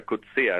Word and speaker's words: Coetzee: Yo entrevisté a este señor, que se llama, bueno, se pronuncia Coetzee, es la pronunciación correcta, igual que el Premio Nobel de Literatura, y él cuando hablaba